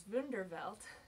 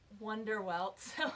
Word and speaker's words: Wunderwelt: high school in college my instinct is to pronounce it as bender belt so I actually checked their website to make sure by looking at the katakana on their Twitter account and it is indeed pronounced Wonder well I'm going to attempt